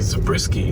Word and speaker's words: Zabriskie: No, there's no N. It's actually Zabriskie. I think I've been mispronouncing it the whole time.